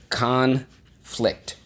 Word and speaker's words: conflict: let's go conflict sorry conflict conflict notice that the accent is on the first syllable conflict conflict accent on